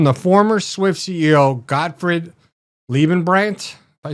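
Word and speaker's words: Leibbrandt: It's from the former Swift CEO, Gottfried Liebenbrandt. If I said it right? Liebenbrandt, yeah.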